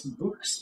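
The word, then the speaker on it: Bux: But I mean, it's books because it's like books.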